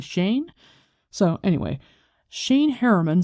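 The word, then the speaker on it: Seaine: So I figure if S-E-A-N is Sean, S-E-A-I-N-E is probably Shane.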